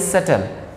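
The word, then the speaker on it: subtle: The pronunciation of this word is सटल, इसमें B silent हो जाता है।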